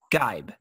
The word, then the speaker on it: Geib: So it's Geib.